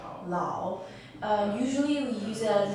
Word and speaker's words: 老: This character is pronounced as Lao. Lao.